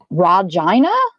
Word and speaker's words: Regina: of like you about my name Regina the E is like a raw and the I is like a long hi rajina is that is that